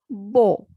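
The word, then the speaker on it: beau: together it has sound o first is b-e-a-u bo means handsome next is n-o-u-v-e-a-u nouveau new next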